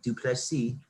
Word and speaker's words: Dricus Du Plessis: Dricus Du Plessis. I just found out that's how you say his name. Du Plessis.